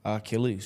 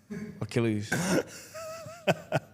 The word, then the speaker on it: Achilles: It's not ARC. It's not Achilles. It's Achilles. Achilles. Yeah. I don't know that. You learn something. Achilles. There's no R in Achilles. Dance. Arc. Achilles.